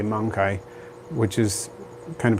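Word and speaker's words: mancae: m-n-m-a-n-c-a-e is the plural the pronunciation varies some people say monkey mangkai monkey i say usually the version because i speak italian and italian is very similar to latin i say mangkai which is kind of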